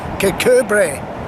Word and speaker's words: Kirkcudbright: just asked this gentleman, how do you pronounce Kirkcudbright, which is what the English would say, because that's more or less as it's spelt, and that's how I've always said it. But what's the Scottish sort of translation of that?